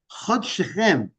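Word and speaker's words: חדשכם: Now you would usually put a yud after the shin, Chodeshechem. the plural, but it's spelled in a singular. So he says that the fact that it's to be read Chod Shechem, your first, the beginning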